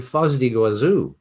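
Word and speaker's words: Foz do Iguaçu: Oh, and Foz do Iguazu, maybe I'm pronouncing it the Spanish way, but that waterfall you have in the south of Brazil is definitely the most beautiful in the world.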